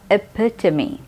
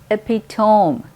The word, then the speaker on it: epitome: अगला वर्ड है एपिटमी। इस वर्ड को बहुत सारे लोग एपिटोम कहते हैं। वो आखिर में जो OME है तो उसको टोम कहते हैं बहुत सारे लोग, गलत है। सही प्रोनाउंसिएशन है एपिटमी।